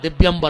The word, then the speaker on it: दिव्यंबर: तुमने लगे हो दिगंबर आयई चो दिगंबर आयो, 2 जने नग्न होके आओ, जबकि उच्चारण है दिव्यंबर आयई।